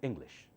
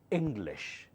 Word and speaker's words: English: want to say English you should not say English that's wrong you have to learn the proper way okay you have to say English in louder Lish softer English I can speak English